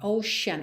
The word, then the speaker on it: ocean: aí a essa própria atenção aí é essa pronúncia da palavra Ocean Ocean esses e tenção de sh Ok ver ou